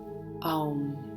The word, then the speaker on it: Aum: And via the use of mantra, I would like us to recite the Sanskrit word Aum, which is spelled A-U-M.